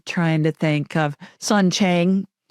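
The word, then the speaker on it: Qing: I'm trying to think of son Chang who is a Dowist priest s an is spelled Q I N G he's a Dowist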